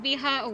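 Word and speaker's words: 美波: Pronounced biha, where bi, beautiful, and ha means wave.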